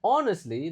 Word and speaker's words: honestly: If respondents answered honestly, nah ini hnya enggak dibaca ini. Mau bilang jujur h-nya enggak dibaca. Jadi cara bacanya honestly bukan honestly tapi honestly. Hanya enggak dibaca ya.